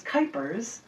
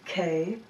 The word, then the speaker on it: Kuypers: Don't get Janet Jackson because my last name is Kuypers, rhymes with hyper, Kuypers, and you would be able to find a lot of them right there.